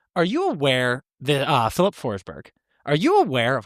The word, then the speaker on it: Forsberg: So Berg is like it sounds more like berry. Yeah. So his name in Swedish would be Philip Forsberg.